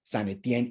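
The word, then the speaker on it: Saint-Étienne: Estamos de acuerdo, puede ser lo mismo, pero en la pronunciación nos queda más claro si digo San Etienne y utilizo el francés.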